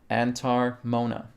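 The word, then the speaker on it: antar mouna: tarmona okay if you guys don't know how that's spelled antar is a-n-t-a-r second word is mona m-o-u-n-a antar mona which is sanskrit meaning inner silence okay we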